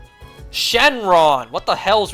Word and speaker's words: Shenron: I even saying his name right shin run shinran the dragon and Dragon Ball God damn it Shenron what the hell's wrong with me man I